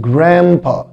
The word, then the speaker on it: grandpa: خامس كلمة معانا وهي كلمة grandpa. grandpa وهنا حبايبي لما اجي انطق grandpa بخفي حرف الدي، يعني الدي هنا مش هنطقه، فهقول grandpa وخلي بالك من الجي ار ساوند gra gra.